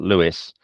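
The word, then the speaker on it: Lewes: east of Brighton and there's another small ish town called Lewis it's uh it looks like lose when you uh look at the way it's spelled l-e-w-e-s and that's a little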